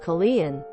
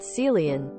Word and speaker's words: Colleen: My name is Colleen and I use the Irish pronunciation, not the hillbilly pronunciation. I felt the need to correct her and stated, it's pronounced Colleen, not Celian, B.